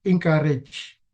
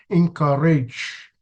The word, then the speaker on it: encourage: It's already implanted in their mind that like they say encourage, but the correct pronunciation is encourage.